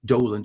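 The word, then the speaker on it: Dowland: name to be pronounced doland even though it's spelled with a w they spelled roland with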